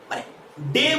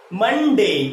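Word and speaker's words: Monday: ওকে, তারপরে কি আছে মানডে, কি হবে এর উচ্চারণটা মানডে, মানডে। ওকে, মন্ডে বলবো না, মানডে।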